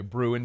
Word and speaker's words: Bruin: Anyway, Bruin, B-R-U-I-N, like brewing, but Bruin, like anyway, Hunt basically just got quotes together from UCLA media this week, just totally crapping on UCLA football.